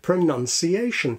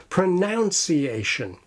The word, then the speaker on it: pronunciation: the word pronunciation, and the first is that it is the word pronunciation and not pronunciation. We have the verb pronounce, which is written with OU as in noun, but pronunciation is written with simple U as in none.